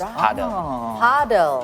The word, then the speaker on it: padel: It's Padel. Paddle. Okay, so first of all, Coach, can you elaborate what this new? For me, it's new sports. What is it? What is it? Yeah, it's Padel is one of the game of sport in